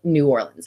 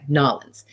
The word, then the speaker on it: New Orleans: time there we loved New Orleans and excuse me I'm not saying it right nollans and we even talked